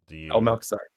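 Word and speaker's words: Malchezaar: I don't know how to pronounce that. Malchazar.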